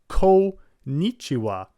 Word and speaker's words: konnichiwa: middle and just say konnichiwa. But that would be incorrect. It's actually kon, so ko, that's the first syllable, and then the n, the n, so konnichiwa. Konnichiwa.